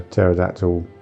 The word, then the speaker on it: pterodactyl: Well, we sort of said uh about the you can't hear a pterodactyl co toilet because the P is silent.